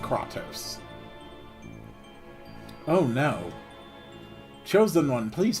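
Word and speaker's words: Kratos: spelling of his name it sounds like katos from the God of War franchise portions of this game are voice acted so we do know exactly how to pronounce it he is called katos oh no chosen one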